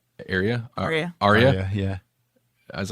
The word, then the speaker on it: Arya: I always get her name wrong. Arya? Arya, yeah.